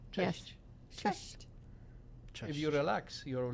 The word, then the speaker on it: Cześć: Cześć, dzień dobry. Cześć. Cześć is like simple. Cześć. Cześć. You see, you're doing Hi. the mistake because you're trying to say Yes. Cześć.